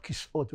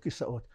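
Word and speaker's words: כיסאות: You know, we talked about this earlier, in Hebrew, the proper pronunciation of "chairs" is "kis'ot", not "kisaot", but we're so used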